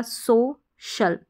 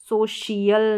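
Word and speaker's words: social: हैं यहां हो गया सोशल सोशल इसको सोशल प्रोनाउंस करेंगे सोशियल नहीं करेंगे सोशल हो गया फिर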